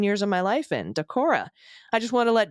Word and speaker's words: Decorah: the first 18 years of my life in, Decorah. I just want to let Dana know you got the pronunciation perfectly correct the first time you said it.